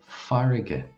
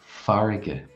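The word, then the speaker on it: farraige: So the word sea in Irish is farige. Farige.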